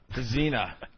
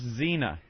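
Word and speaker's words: Dziena: Dezena. I think it's Dezena. Do you pronounce the Z, the D? Why not? Or just Zena? No, I'm not pronouncing that D. I'm leaving it off.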